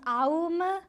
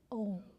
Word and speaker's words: Om: Some people say it's actually pronounced Aum. No. It's broken down as A-U and Ma, but you don't pronounce it that way. You pronounce it Om.